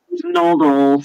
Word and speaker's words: Noodles: And because of the Nuddle, the is that how it's pronounced? Nuddles? Noodles.